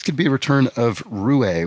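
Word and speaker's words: roué: be a return of Ru a which I mispronounced as Rue um last time it came up in the crossword because I didn't remember that it had a uh the what is it accentegu I suppose on the E it's a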